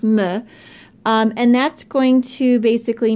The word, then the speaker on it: me: It's pronounced me, and that's going to basically mean, let me zoom down, to or for me.